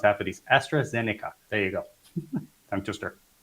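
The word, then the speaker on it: AstraZeneca: a pharmaceutical company like estra Zen I can't pronounce half of these Astra zenica there you go time to and okay okay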